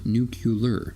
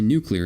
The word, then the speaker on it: nuclear: home that is nuclear not nucular so next time you want to press somebody say nuclear and watches are completely